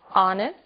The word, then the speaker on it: honest: O som do H. Pronunciado desde a garganta, como em hotel, e mudo em 3 casos. Our, honest, honor.